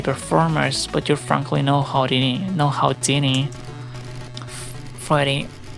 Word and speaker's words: Houdini: We may be performers, but you're frankly no Houdini. Freddy. First of all, it's pronounced Houdini. Foxy, no, it's Houdini. But Laura, it's... Why are you both saying it with an R?